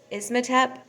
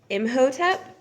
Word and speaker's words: Imhotep: Ismatep. I totally butchered that. I apologize. I have it written down. See, I put an S in there and there's not an S. It's Imhotep, Imhotep.